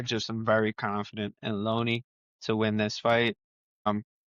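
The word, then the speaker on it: Lone'er Kavanagh: Brennan Roy Val versus Loner Kavanagh. I found out it's pronounced Looney, not Loner. Looney. I've heard that. It's Looney Kavanagh.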